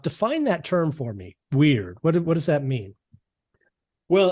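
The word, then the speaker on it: wyrd: the book uh and I think I'm pronouncing it correctly weird is that right w-y-r-d yeah um and this ties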